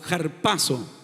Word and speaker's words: harpazo: Y esa palabra o harpazo en la gramática griega sobre la alfa hay lo que se llama un espíritu rudo, y entonces se escribe con H, pero se debe leer como J, harpazo, harpazo.